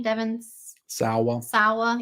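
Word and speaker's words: Devon Sawa: one devin how do you say his name devin sawwa yeah i had a crush on him too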